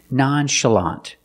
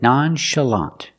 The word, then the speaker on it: nonchalant: like Shu and show this word comes from French that's why we pronounce the CH with the sh sound again nonchalant the second syllable is